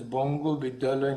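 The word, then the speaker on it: বঙ্গ বিদ্যালয়: And when he grew a little older, he joined the Banga Vidyalaya, that is pronounced as Bongo Vidyalaya in Bengali.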